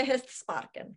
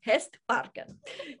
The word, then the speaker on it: hästparken: Inte hästsparken, hästparken.